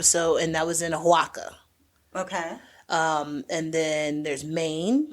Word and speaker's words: Oaxaca: I think it's Oaxaca. How you say it correctly.